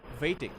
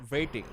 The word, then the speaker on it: waiting: When you pronounce the word that has W in it, it's different. It's not v, it's w. So if it's W, it's w. So it's like it's waiting, all right?